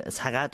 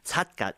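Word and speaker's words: 삿갓: So just to give a bit more background to this poet, Kim Sagat, or Satgat is actually how you say it in Korean, was born at the beginning of the 19th century in 1807.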